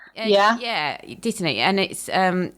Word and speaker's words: Dittany: a herb, and I don't know how to pronounce it. I've been calling it Dittender, but I don't know if that's correct. Dittany. Yeah, Dittany.